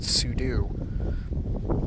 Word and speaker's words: pseudo: time his name is pseudo uh it should be pronounced sudo and uh if you